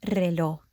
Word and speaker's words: reloj: I want to point out the last word, reloj. When a Spanish word starts with the R, it's more of a rolly R.